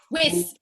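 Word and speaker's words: Wyss: Weiss. Excuse me? Amanda Weiss. Weiss. I'm sorry. I thought it was Weiss. Rhymes with kiss.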